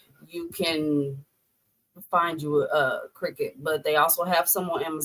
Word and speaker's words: Cricut: Cricket is spelled C R I C U T. Cricut. Cricket. Oh, I spelled it like the uh the insect. Wait. Nope. Nope. Not the insect.